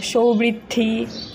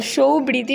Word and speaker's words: Soubrity: সৌবৃদ্ধি সৌমৃদ্ধি সুমৃধি এসব বলে। আচ্ছা তো সৌবীতি নামটা কেউ উচ্চারণ করতে পারে না।